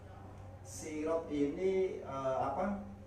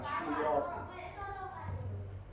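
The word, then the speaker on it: صراط: Ada yang bacanya ala sirotin mustaqim, bukan surotin.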